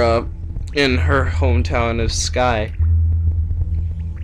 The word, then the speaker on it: Skye: in her hometown of Skye which is pronounced Skai in her dialect I have to keep